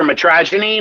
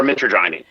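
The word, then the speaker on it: mitragynine: say it either metrogenine or metroinine metroinine okay that's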